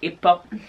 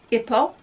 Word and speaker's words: hippo: just nice yeah but he didn't say it like hippo he said ipa like a french person would hippo if ball without the h ipo poo he used